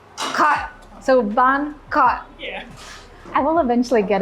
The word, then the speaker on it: khọt: And in this case, the bong khọt, there's a little dot under the O, so that tells you you're supposed to bring it down. So the KH is at khọt, and then there's ot, khọt, khọt.